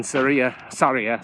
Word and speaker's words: Sarria: So the whole point of that is to make you feel guilty for starting in Sarria, is how it's pronounced, instead of starting at the beginning.